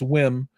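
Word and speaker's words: WiiM: and room was there with we or whim I've been saying it wrong it's not we it's whim um and I got a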